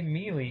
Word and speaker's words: Melee: He said Giga Bowser, and then you said Melee. The announcer says Melee. He doesn't say Melee. So then why do you say Melee? Because it's pronounced Melee.